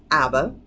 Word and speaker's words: ABBA: That's how we say it in California, ABBA.